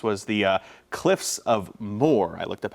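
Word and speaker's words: Moher: the coast this was the uh Cliffs of Moore I looked up how to pronounce that um thanks to Elaine for sharing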